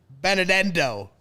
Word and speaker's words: Benedetto: I get to hang out with my good friend Mark Carman and Lawrence Benedetto.